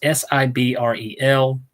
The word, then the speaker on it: Sibrel: But his name is Bart Sebrel. I think I'm saying it right. Either Sebrel or Sebrel. It's Sibrel.